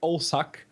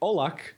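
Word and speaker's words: Olšák: So, Mr. Marek Olsak, or Marek Olak, as that would be the correct pronunciation since he's Polish.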